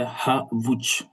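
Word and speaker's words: havuç: Ici on a dit que la lettre H c'est toujours aspirée. Ça dit toujours prononcé. Ça qu'on veut dire. On donne l'exemple c'est Havouch. Havouch. Havouch qui signifie la carotte. Hav, il faut bien prononcer le H.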